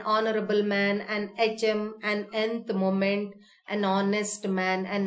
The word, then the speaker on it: nth: Though we have used the letter N here, it is pronounced nth. So it starts with a vowel sound.